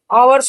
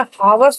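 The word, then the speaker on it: hours: गया पिल, या तो उसमें लकी कॉन्स्टेंट साइलेंट साइलेंट दिखाई दे रही है। अब हॉनरेबल हो गया, आवर्स हो गया। आवर्स में क्या, अच्छा आवर्स करते हैं तो उसमें क्या है, हमें हावर्स तो नहीं बोलते ना, उसे हम आवर्स बोलते हैं।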